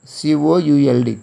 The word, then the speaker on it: could: Next word, C-O-U-L-D, could. Here L is silent.